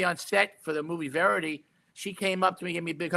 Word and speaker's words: Verity: How do you pronounce it? Verity? Yeah, Verity.